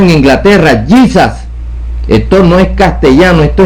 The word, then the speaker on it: Jesus: español esto es inglés se pronuncia gizas Esto no se pronuncia Jesús esto aquí es gizas giza no Jesús esto es inglés Esto